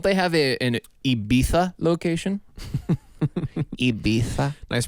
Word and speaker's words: Ibiza: Ibiza. Nice pronunciation.